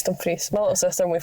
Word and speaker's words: Dumfries: At least he says Dumfries and not Dumfries. Dumfries, yeah, get another one. It's Dumfries.